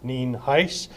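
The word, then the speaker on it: Nienhuis: Al Dean Heist it's spelled n-i-e-n-h-u-i-s and it's pronounced Neen Heist actually I'm going to have talk a little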